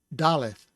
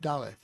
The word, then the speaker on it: daleth: then there's no dog-ish so you get the fricative th sound so dallas and it would be spelled in english as d-a-l-e-t-h dalit now in modern hebrew